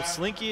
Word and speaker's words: Slinky: So I asked him how to pronounce it, and they said like the toy, so Slinky it is.